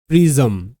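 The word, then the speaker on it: prism: মনে রাখতে হবে শব্দের শেষে আই এস এম থাকলে বেশিরভাগ ক্ষেত্রে উচ্চারণ হবে ইজম।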